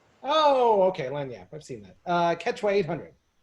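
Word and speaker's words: lagniappe: No, you're actually looking for, it's not spelled how it's pronounced, but it's lanyap. Oh, okay, lanyap.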